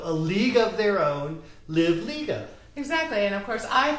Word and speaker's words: Livliga: so I always say remember that movie called a league of their own and if you think about a league of say live Liga so a league of their own live Liga exactly and of course